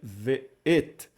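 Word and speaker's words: וְאֵת: Então vamos pronunciar v, o vav com o som de v, e o shivá, que é a semivogal entre o som de e a, pronunciado rapidamente.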